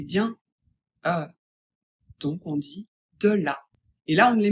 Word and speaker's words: de la: De là, attention de Il faut bien prononcer le e. E, ce n'est pas, ce n'est pas e. C'est bien euh donc on dit de là.